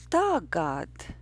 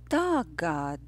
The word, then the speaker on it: tagad: But the word that stands before the word never was Tagad, tagad, tagad. The rhythm is yes, no. Tagad.